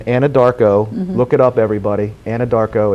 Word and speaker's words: Anadarko: There is a theater in Anadarko, look it up everybody, Anadarko, it sounds just exactly how it's spelled, theater called the Redskin Theater in Anadarko, Oklahoma.